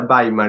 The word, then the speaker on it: Weimar: Weimar se escribe, pronuncia Baimar en alemán.